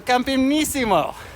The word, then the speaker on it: Campionissimo: Il Campionissimo.